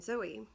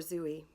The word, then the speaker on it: Zooey: reading it Franny and Zooey and or Zoe I've heard it pronounced both ways and Franny is also